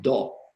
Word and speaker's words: Tao: And Tao, T-A-O, which is a philosophy that Chinese medicine based on, it's pronounced Do, and it actually comes from doing.